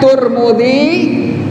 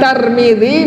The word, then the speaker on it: Tirmidzi: Boleh baca Turmudi, boleh baca Tarmidzi, boleh baca Tirmidzi.